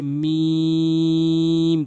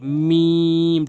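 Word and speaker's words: م: তিন আলিফ টেনে পড়বেন এরপর হয়েছে মিম তিন আলিফ টেনে পড়বেন দুই ঠোটের শুকন অংশ দুই ঠোট বন্ধ করে মিম তিন আলিফ টেনে পড়বেন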